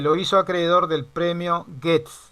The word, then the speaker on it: Goethe: Escribía un alemán simple, bellísimo, por la claridad y el humor infinitamente autorreferencial, que lo hizo acreedor del premio Goethe. Se escribe Goethe y se lee Goethe.